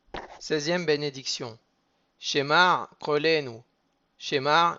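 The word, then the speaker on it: שמע: Shemar, il faudra le prononcer milera. Donc on mettra l'accent sur le ma et pas sur le she.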